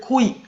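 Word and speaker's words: 恋: 그다음에 1 2 3 4번 전부 다 읽는 건 코이예요. 일본으로 사랑 연애를 코이 코이라고 읽는데 1번 2번 3번 4번 전부 다 발음은 코입니다.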